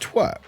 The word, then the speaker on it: TWRP: uh wait is it is it actually is pronounced twerp yes it is actually called twerp yes uh